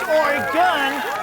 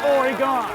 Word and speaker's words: Oregon: hip in our waiters it's pronounced or gun not Oregon we buy $200 hiking